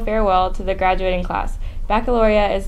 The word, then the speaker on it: Baccalaureate: Seniors, Baccalaureate (Pronounced: BACK-UH-LOR-EE-ETTE) is scheduled for Sunday, June 3 at 2:30 PM in the CSHS Auditorium.